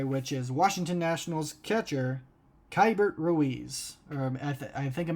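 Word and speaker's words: Keibert: is washington nationals catcher kybert ruiz or i think it might be cable ruiz sorry about that i i've always pronounced his ra name wrong i think it's k bert ruiz so k bert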